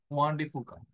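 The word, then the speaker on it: Juan de Fuca: ஸோ இதை ஜுவான்னு சொல்ல வேணாம், வான் வான் அப்படி அப்படி ப்ரொனவுன்ஸ் பண்ணணும். ஓகே, வான் டி ஃபூகா.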